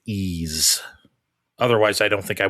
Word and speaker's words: Ys: That's how I knew they spelled it E A S E like the word ease.